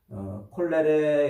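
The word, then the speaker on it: colere: 자, 근데 이제 재미있게도 요 경작, 땅을 경작하다 이 말을 라틴어로 콜레레 이렇게 발음을 하는 말이에요.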